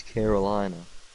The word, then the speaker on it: Carolina: is North sarinia no it's Carolina like Caroline like the song but here's the thing